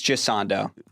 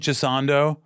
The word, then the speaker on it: Gisondo: So, I'm saying it wrong. Well, it's Jando. See, I was saying Jissando forever.